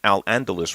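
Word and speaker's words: al-Andalus: uh al angelus region i'll get this right al andalus region i like to call it cordoba because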